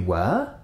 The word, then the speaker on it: were: Were. For example, we would say, where were you? You were? Note that this word is not pronounced the same way as this word.